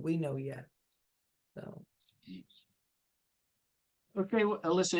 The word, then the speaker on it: Alisa: one more time oh Alisa I know I just want to make sure I know I know it's Alisa and and I don't